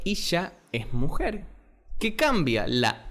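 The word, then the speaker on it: אישה: Pero mujer se llama o se dice en hebreo Isha.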